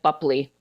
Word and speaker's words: Boepple: My father died when I was very little, and I had a stepdad with a different name, but I think Buckley is how we all pronounce it.